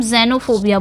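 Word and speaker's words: xenophobia: डर हो उसे हम क्या बोलेंगे उसे हम जेनोफोबिया बोलेंगे जेनोफोबिया एक् से एक् से याद आए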